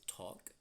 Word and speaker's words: talk: And with those particular 2 verbs, there's always confusion because um, normally people say the L sound, and the L sound is silent. Okay, it is not talk, it is talk and Talk.